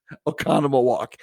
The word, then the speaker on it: Oconomowoc: in oconomowoc wisconsin and if you see oconomowoc you'll know that that's not the way you pronounce it o-c-o-n-o-m economy walk if you want to